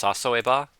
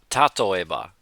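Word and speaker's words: 例えば: I want to say it's sasoeba, tatoeba with a T.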